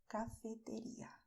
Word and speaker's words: cafetería: So do not pronounce it the English way. Pronounce it the Spanish way, which is cafeteria. Cafeteria.